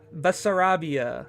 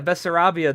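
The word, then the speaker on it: Bessarabia: I forgot how to pronounce that. Basar Basarabia. That's it. Yeah, Basarabia.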